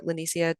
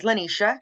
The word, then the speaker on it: LaNicia: I would love for lenisia to take the floor thank you um and just to correct uh pronounce this pronunciation of my name is lenisha oh perfect thank you